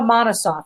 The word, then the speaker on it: Monosoff: But before I get ahead of myself, Monosoff, is that how you pronounce it?